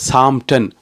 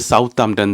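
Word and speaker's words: Southampton: என்றே வாசிக்க கூடாது இதை சாமன் சாமன் என்று தான் வாசிப்பேன் என்று சொல்லி ஒற்ற கால்ல நின்றா அங்க இருக்கிற சொல்லினோம் தம்பி இப்படி வாசிச்சீங்கன்னு சொன்னா இங்க எல்லாரும் சிரிப்பினோம் இது சவுத் ஹாம்டன் தான் இங்க வந்து நீங்க சவுத்த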